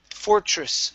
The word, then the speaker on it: fortress: Next here is fortress. So this is going to be a CHR sound. Fortress.